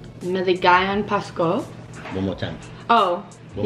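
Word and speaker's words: Maligayang Pasko: Joyce taught me last night, but I forgot how to pronounce it properly. Maligayon Pasko. Maligayon Pasko.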